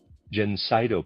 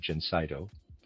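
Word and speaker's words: Gencydo: For this condition, we have our Jenseno preparation. Reader's aside spelled Ge N C Y D O. I'm pronouncing that Jenseno.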